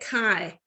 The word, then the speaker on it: chi: can read it as uh how do you phonetically say it chi okay so there's no in there it's just